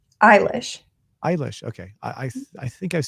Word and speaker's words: Eilish: Billie, how do you pronounce her last name? Eilish.